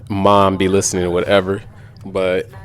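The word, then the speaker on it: Mame: So you probably heard me say mom be listening to whatever, but most people don't know my little sister's name is actually Mom. It's spelled M-A-M-E.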